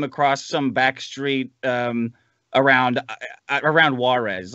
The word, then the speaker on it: Juarez: like trucking them across some back street around Juarez.